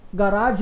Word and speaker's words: Garage: गराज है, GARAGE, same spelling.